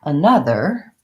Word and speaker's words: another: When we have another, we add an N to our and we add a schwa, another sound before it. And we have stress on the syllable na, so we have short, long, short, another.